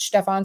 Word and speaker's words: Stefan: Stefan I'm guessing it's Stefan I don't or Stephen I mean I pronounce it in German we pronounce it Stefan so welcome Stefan um if we think